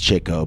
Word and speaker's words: Chico: brothers fans are watching yes i know it's pronounced chico but that didn't rhyme you know what did